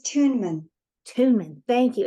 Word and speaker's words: Tuinman: Is that the right way to pronounce it? Yeah, yes, Tuinman.